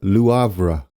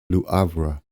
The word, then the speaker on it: Le Havre: And I'm going to go with Le Havre. There we go. Le Havre. I thought it might be Le Havre, but the pronunciation site seemed to agree on Lou rather than Le.